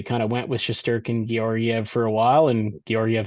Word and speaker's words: Georgiev: Um, Georgiev, yeah. Georgiev, yeah, there you go.